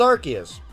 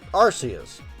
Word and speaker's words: Arceus: out on the switch recently it's called Legends archas uh Aras uh sorry I like archus better I pronounce a lot of Pokemon names wrong just